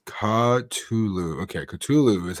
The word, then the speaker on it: Cthulhu: Okay, Cthulhu is how you say it.